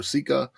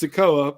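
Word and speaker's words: Sikoa: watched NXT 2.0 because you pronounced Solo's last name wrong. So, way to have I actually haven't watched him wrestle yet. So, yeah, way to have a JR moment. See, it's Sokoa, but we'll go with Sika just play along for shits and giggles.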